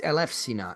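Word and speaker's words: Ελευσίνα: But Greeks do not pronounce the Upsilon like a U. It's usually like an F. So it's or a Y, if anything. So It's Eleusina, and so that was my understanding of it.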